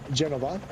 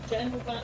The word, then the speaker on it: Genova: And then Genova. I said it right? Yes. There's a V, right? There's a V. And there are two cities, Genova and Genoa.